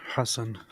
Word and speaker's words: Hassan: of this Terror organization is that the correct pronunciation because I actually like that better it's Hass Hassan he said Hassan uh it's because Jews um